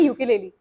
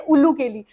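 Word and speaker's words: ukulele: कहते हैं यूके लेली बहुत सारे लोग उसे गलत प्रोनाउंस करते हैं कभी कभी कुछ बोलते हैं उल्लू केली और मैं बोलती नहीं यार प्लीज उल्लू केली मत बोलो दैट इज य केलेली ये फोर स्ट्रिंग इंस्ट्रूमेंट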